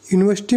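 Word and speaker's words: university: क्योंकि यूनिवर्सिटी को जब आप बोलोगे तो वहां यहां पर यू की आवाज आ रही है य की।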